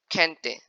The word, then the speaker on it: gente: When G comes before I or E in Spanish, it is pronounced as H in English. Example, gente.